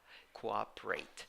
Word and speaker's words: cooperate: is not easy right we need two vowels there cooperate according to the merriam-webster